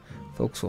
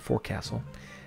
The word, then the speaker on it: fo'c'sle: the fo'c'sle compartment there that is how it's pronounced folks will not forecastle um quarterdeck okay well we can see here